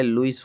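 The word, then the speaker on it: Louis: यह लिखा गया है लुईस फिशर लुई याद रखना स्पेलिंग लुई फिशर ये इन्होंने एक बुक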